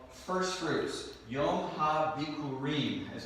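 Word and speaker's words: יום הביכורים: Yom HaBikurim is how you say it in Hebrew.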